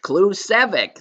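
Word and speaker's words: Klucevsek: It's one of those obus that it comes with pronounced clueic.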